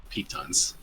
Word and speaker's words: pitons: Okay, and they are pronounced pitons.